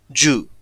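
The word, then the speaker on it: جُ: So if, for example, if the letter Jim, when a Dhamma is placed on it, it produces a short U sound and Jim becomes Ju.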